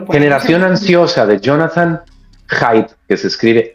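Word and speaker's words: Haidt: Vuélvanos a decir el título para para lo poner generación ansiosa de Jonathan Heide, que se escribe H a IT.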